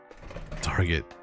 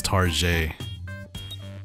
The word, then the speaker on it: Target: I am El elegant target tar it's not pronounced Target guys it's tar like French people would say it oh you're shopping